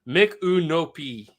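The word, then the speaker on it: Micanopy: By the way, it's pronounced Mikunopi. Oh, Mikunopi.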